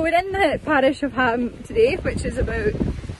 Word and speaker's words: Holm: There is the parish of Ham, and for those of you who aren't so familiar with Orkney, Ham is spelt H-O-L-M.